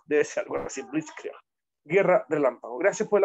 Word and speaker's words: Blitzkrieg: No sé ni siquiera pronunciarlo. Blitzkrieg, debe ser algo así, Blitzkrieg.